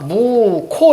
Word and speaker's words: 묵호: 무고왕 한번도 안가 봤는데 자 발음하니까 무코 이렇게 발음이 돼요. 자 그래서 이거를 무호 이렇게 쓰면 안 된다는 얘기야 체온일 경우에는 그럼 어떻게 히을 살려 줘요.